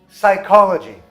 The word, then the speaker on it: psychology: O P também é silencioso no começo de palavras de origem grega.